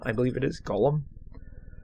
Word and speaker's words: golem: G-O-L-E-M, I believe it is. Golem. I guess Golem instead of Gollum.